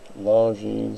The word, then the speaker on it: Longines: Longines sounds like long jeans. Like, I got me some long jeans.